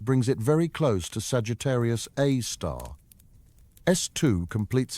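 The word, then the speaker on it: Sagittarius A*: They named it Sagittarius A star, pronounced Sagittarius A star after the constellation where it resides.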